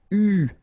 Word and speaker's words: eu: And this is pronounced, so it's an exception because normally you should pronounce it differently, but, so it's an exception, it is pronounced U, okay?